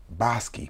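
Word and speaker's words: Bosque: where early Spanish explorers bestowed the names bosi pronounced bosi meaning wooded the first survey for land grants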